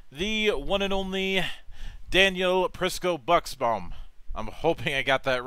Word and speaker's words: Prisco-Buxbaum: Yes, Prisco-Buxbaum. It surprisingly sounds just like it's spelled, but it is probably the longest last name you've seen, so.